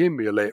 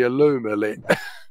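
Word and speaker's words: Illumulet: It's funny, Dean used to call that the Immulet, but you can clearly see it's the Illumilit.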